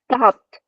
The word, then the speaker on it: stopped: Stopped. Mm-hmm. Yes. So it should be T at the end, stopped.